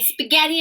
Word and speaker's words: spaghetti: spaghetti thank you and spaghetti is one of those funny words with a silent letter in it spa yeah tea mary